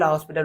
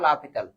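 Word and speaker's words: L'Hôpital: ওইগুলো কিন্তু লা হসপিটাল রুল দিয়ে করা যায়, এটা উচ্চারণটা লা পিতাল, ঠিক আছে। তো আমরা হসপিটাল দিয়ে বলি কোনো প্রবলেম নাই।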